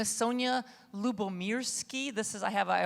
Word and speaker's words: Lyubomirsky: people are successful so my name is Sonja Lyubomirsky this is I have I always provided mnemonic because it's a little hard to pronounce and it means love and peace in